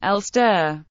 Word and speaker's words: Gloucester: English Gloucester, pronounced L stir.